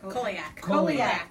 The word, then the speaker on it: Coheleach: Coheleach. Coheleach. Ah, I gotta think of Coheleach. Yeah. It doesn't look like it sounds.